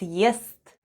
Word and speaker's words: ест: The first sound is Е, then we have S, and then goes T, and all together it's ест.